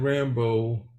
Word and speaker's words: Rambeau: here and we see Lieutenant Rambo and she's here she's a hard nose obviously like not with a like a John Rambo it's spelled with a little um Louisiana Twist on it but she's kind of